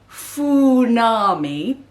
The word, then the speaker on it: Funami: will be called the funami uh spelt like fun army but with an eye on the end and pronounced like tsunami because they bring waves